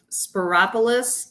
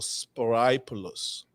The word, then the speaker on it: Spyropoulos: Spyropoulos. It rhymes with metropolis. Oh, Spyropoulos.